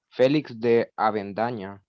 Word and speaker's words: Félix de Avendaña: Félix de Avendaña. Ujú, exacto. Era don Félix de Avendaña. Félix con tilde en la E y X. Félix, así como el nombre normal.